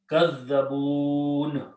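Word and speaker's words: كذبون: Qala Rabbin Surni Bima Kadhabun. You are going to pronounce a sukun Kadhabun.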